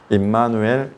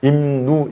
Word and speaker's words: 임마누: 그래서 임누 이렇게 안 하고 발음을 임마누 그래요.